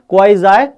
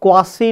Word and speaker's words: quasi: Its actual pronunciation is क्वाजी passive voice. तो इसको क्वासी नहीं बोलते हैं, इसको क्वाजी बोल सकते हो आप, राइट।